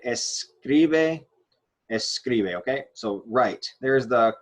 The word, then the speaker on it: escribe: this part right here, this middle syllable is our stressed syllable. Well, this is our stressed vowel. Right here, this is where we are going to have our stressed syllable right there on that I.